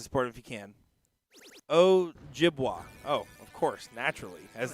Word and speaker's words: Ojibwa: That's OJIBWA, so Ojibwa is how I would pronounce that.